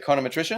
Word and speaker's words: econometrician: econometrician or a condom is that how you pronounce it econometrician it is like that is hyponosis semantic satiation kicks in pretty quick but being an econometrician when you see a visual representation of data